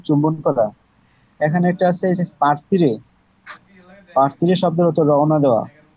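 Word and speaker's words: partire: আচ্ছা, লাস্টের যে পার্থিরে হবে এটা পি, তারপরে আ এর রে, পার, টি ই এর রে এ, পার্থিরে, পার্থিরে শব্দের অর্থ রওনা দেওয়া।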